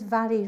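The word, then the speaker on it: Mhairi: So my name is Vary. Vary is spelt m h a i r i.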